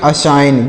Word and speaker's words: assign: ASSIGN, तो इसे क्या पढ़ेंगे, अशाइन। क्या पढ़ेंगे, अशाइन, इसे पढ़ेंगे अशाइन। यहाँ पर जी साइलेंट है, यहाँ पर भी जी साइलेंट है,